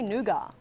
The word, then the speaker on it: nougat: it's a good song I say nuga this says nougat that's not a word I'll just change it to honeycomb Americans of pronunciation nougat which is why we